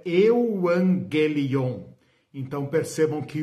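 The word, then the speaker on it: εὐαγγέλιον: A palavra no original é euangelion.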